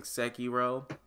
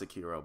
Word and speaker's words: Sekiro: Also been playing Sekiro. It's pronounced Sekiro, but I like Sekiro better.